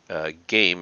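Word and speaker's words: Geim: Novoselov was actually a postdoc working for Game, is how his last name is pronounced.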